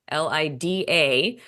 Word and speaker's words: Lida: Her name is Lida Bunting, Lida with a D, Lida.